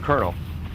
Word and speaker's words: colonel: are in the word Colonel Sergeant how many hours none but you still say colonel a large percentage of